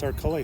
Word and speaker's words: Arculli: I've known her for 20 years, and I finally said, "How do you say her last name?" It is Arculli. Arculli.